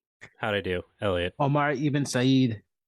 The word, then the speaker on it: Omar ibn Said: history of Charleston, and I'm not going to pronounce this name right, Omar ibn Said. How'd I do, Elliot? Omar ibn Said.